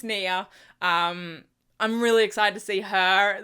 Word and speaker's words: Nia: but I think because I saw a preview and I think she pronounces it Nia so I think it's Nia um I'm really excited